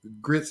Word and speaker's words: Gritz: If you've never heard of RC and the Grits, Grits is spelled Gritz.